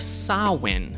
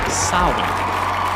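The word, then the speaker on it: Samhain: 2000 plus years ago sin now I don't know if you can read it on that poster but it doesn't read like Sinn but I think that's how you pronounce it so ancient Kelts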